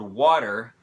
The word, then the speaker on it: water: of which is stressed so in the word water because because the stress falls on the first syllable or on the first vowel ah that's